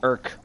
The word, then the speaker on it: ERC: drones using that erc whereas i would refer to it the irk considering that's how you would call it phonetically and taking down some